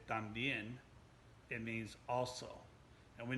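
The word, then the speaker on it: también: word tambien and tampoco so it starts out sounds like the word tom so if we're looking at someone's name and the name tom just got to shorten a little bit and say thumb instead of tom just remember that a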